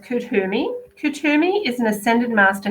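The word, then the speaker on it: Kuthumi: there we go click the wisdom oh it's pronounced kudhumi kutumi is an ascended master who appears as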